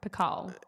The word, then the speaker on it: Picault: Pico.